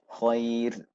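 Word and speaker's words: خير: So it becomes also a tarqiq pronunciation, right? So these are the two examples. Khair, khair, khair, right? Qadir, qadir. Inna Allah ala kulli shay'in qadir. Right? So you end qadir.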